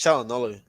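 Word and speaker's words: Çalhanoğlu: Have you heard any news on Kalanoglu? I don't know how to say it. It's Chalanoglu. From what I hear from the Italian commentators, they say Chalanoglu.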